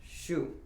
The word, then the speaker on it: 树: Thus, for example, an existing character which had the sound shu was added to mu to represent the meaning tree, which was pronounced shu.